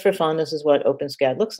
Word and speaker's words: OpenSCAD: they're all written in open scad and if you haven't seen open scad sometimes pronounced open s-cad um it's a free